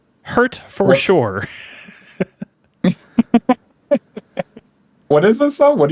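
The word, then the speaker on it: Hertfordshire: H E R T F O R D S H I R E. Hurture. hurt for sure.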